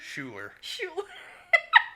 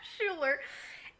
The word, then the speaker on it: Schuyler: Schuler. Schuler.